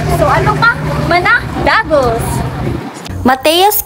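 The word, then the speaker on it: Matthea's: ano pa mana dagos mateos kinalas pala ang tamang pronunciation mga kabas Hindi mattias maya-maya malalaman niyo ang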